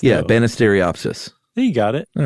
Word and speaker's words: Banisteriopsis: Yeah, but if it's pronounced like it looks. Yeah, though. Banisteriopsis.